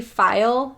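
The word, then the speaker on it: faille: I picked the silky file Fabric and file is spelled f-a-i-l-e and that is not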